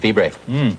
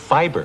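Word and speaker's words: fibre: But it's still pronounced fiber.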